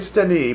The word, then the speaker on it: Stani: I want to celebrate Stani, but I must do my work." He had cleverly used the nickname bestowed by my Czech grandmother. Rafik always said it correctly too, accenting the second syllable.